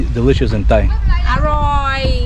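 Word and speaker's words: อร่อย: Aroy. Aroy.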